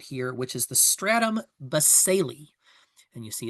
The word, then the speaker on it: basale: you see right here, which is the stratum baseli. And you see it's spelled B A S A L E, but it's pronounced baseli. Uh the stratum baseli is the uh bottom layer of the epidermis.